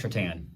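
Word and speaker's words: Šatan: So, somebody tried to order a Miroslav Shatan jersey off of Fanatics, and his last name is spelled Satan.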